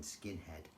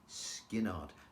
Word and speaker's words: Skynyrd: I said, no, it's Skinnard. Don't ask me how to spell it, but it certainly isn't skinhead.